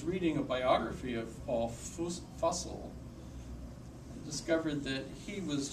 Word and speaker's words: Fussell: And you know that his name rhymes with, it sounds like Fussell because his students made a poem and rhymed his name with tussle. So Fussell must be how it's pronounced.